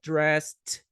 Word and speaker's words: dressed: take a shower get dressed aqui é um t a pronúncia aqui é um t get dressed get dressed go to work